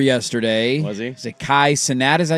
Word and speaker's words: Kai Cenat: Is it Kai Cenat?